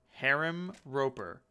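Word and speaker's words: Herim Roper: Harem Roper.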